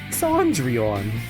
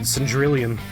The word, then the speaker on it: Cendrillon: Cendrillon. I would not have guessed that was the pronunciation. I probably would have said Cendrillon.